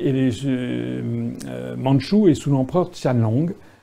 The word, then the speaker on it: Qianlong: mandchoue et sous l'empereur qianlong ça s'écrit qu i am l ong ça se prononce qianlong et c'est un âge